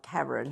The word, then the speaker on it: Karen: I'm used to it being spelt all sorts of ways and answering to pronounced all different ways. We're talking about Karen. Karen, yes, not Karen.